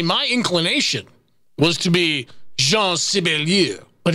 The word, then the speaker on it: Jean: Number seven, you know, I thought it might be pronounced Jean, but it's not, because it's not French. See, my inclination was to be Jean Sibelius, but it's not.